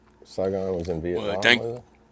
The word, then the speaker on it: Saigon: He said it was just like I can't pronounce that. Saigon. Saigon.